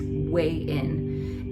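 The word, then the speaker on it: Hui Yin: It's like Japanese, but it's pronounced way in.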